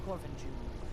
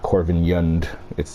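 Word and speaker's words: Korvanjund: It's interesting that they pronounce the J. It's not Corvinjund. They actually pronounce the J in this dialect.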